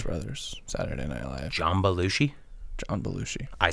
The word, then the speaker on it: Belushi: just said it perfectly so did i john belushi yeah that's how you say it jumbled blues brothers saturday night jambalushi john belushi i said that correctly john belushi belluji jamba